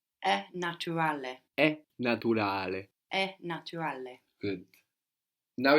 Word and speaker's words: naturale: We have in English natural, but in Italian you will pronounce the T like a T. Naturale. So Italian likes consonant vowel, so you will really split that up. So like where in English we eat that U up, natural. We completely eat it up, but it's there. So in Italian we're going to pronounce that U clearly like an U.